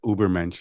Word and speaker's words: Übermensch: Übermensch is how I pronounce it.